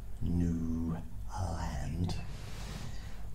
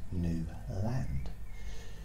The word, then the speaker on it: Newland: WL u n d I pronounce it how it's spelled new land you know I think